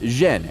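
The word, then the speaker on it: 甄: In the Beijing dialect, his surname is pronounced Zhen, and Yen is the Cantonese pronunciation.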